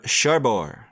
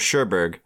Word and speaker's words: Cherbourg: for the umbrellas of Cherbourg spine number 716 I'm pronouncing it differently this week trying to end it last week yeah last week it was shurberg but then I watched